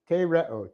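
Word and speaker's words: τηρέω: To get our verb, we have the present active infinitive of the verb tereo. Tereo, T long E, R E, long O.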